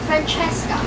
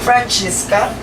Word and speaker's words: Francesca: She says it sounds so chichi, so Italian.